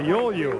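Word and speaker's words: Agaoglu: I asked Dan McNally, I said, how do you pronounce his name? He said, carefully. He said, all the consonants are silent. Ayolu?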